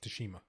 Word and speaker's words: Tsushima: Tsushima. That's how you pronounce it.